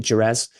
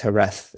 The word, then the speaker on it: Jerez: My mum pronounces it Jerez, which is obviously how it's spelled, but it's Jerez.